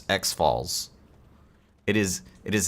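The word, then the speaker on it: X'Fal's: name is Harrison I asked him how to pronounce XF Falls it is it is not Za Falls it is not xfs it is XF Falls that is the Canticle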